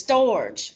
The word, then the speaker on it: storge: No, it's storge. It's storge. That's how you say it.